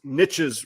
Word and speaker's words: niche: And the argument is, and today I never know whether to say niche or niche, but because niches rhymes with riches, not any other word, we're going to call it a niche today.